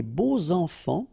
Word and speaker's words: beaux enfants: And here it's quite interesting because even if you've got this X, well, phonetically it will be like Z, so like if it would be an S, okay?